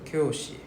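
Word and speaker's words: きょうし: So you can see right the O with a roof, right? So it's a long O sound. So right next then you realize there's no U. Right? Ah that's where our U goes silent.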